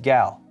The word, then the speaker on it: GeIL: this is an orion kit of memory by gal i am told that geil which is golden emperor international limited is pronounced gal and if this is the first time you